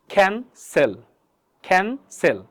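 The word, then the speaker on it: cancel: কেন সি হবে? কারণ সির পর আবার কিন্তু ই আছে, EIY, এই তিনটা লেটার একটা আছে, তার মানে পরবর্তী সির উচ্চারণ কী হবে আমাদের? সি হবে। তাহলে এটা উচ্চারণ লেখা কী হবে আমাদের? ক্যান সেল, এমন হবে।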